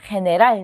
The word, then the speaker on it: general: 자, 3번 같은 경우는 아까도 말씀드렸지만 엘레로 끝났기 때문에 마지막 모음, 첫 번째 모음이죠. general 이렇게 가는 거죠.